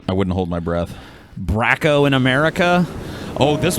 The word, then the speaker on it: Braco: for this dude uh I think it's bratzo is how they say it uhhuh a weird they